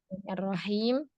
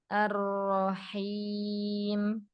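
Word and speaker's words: الرحيم: Arrahim. Sempurnakan pengucapan vokal fathah pada 'ra'. Arrahim.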